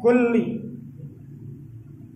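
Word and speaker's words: كلّ: Ini dibacanya kulli. Pakai tasydid, kulli.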